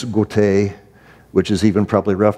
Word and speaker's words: Goethe: tend to call him Goethe. It's a German name, it's Goethe, which is even probably rough.